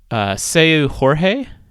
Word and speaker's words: Seu Jorge: And then if you're really having kind of a chill get together, Seu, let me make sure I pronounce this right. Seu Jorge, I believe is how you say his name.